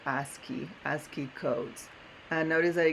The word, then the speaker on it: ASCII: code table it's well AS CII which we pronounce it ASCII ASCII codes and notice